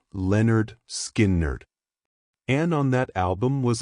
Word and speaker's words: Lynyrd Skynyrd: In August 1973, they released their debut pronounced Leonard Skerd.